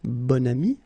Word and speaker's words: bon ami: Okay, so you can see that here you've got this adjective, bon, okay, and then you pronounce it bon ami when you make this link.